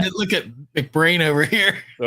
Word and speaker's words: McBrain: So it's Mac and the brain is pronounced as it is in the English word brain.